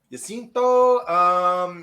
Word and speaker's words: Jacinto: His name is Manny Jacinto, if you want to pronounce it. Jacinto.